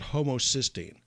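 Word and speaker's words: homocysteine: So you look at something called homocyine. That's spelled H O M O C Y S T E I N E.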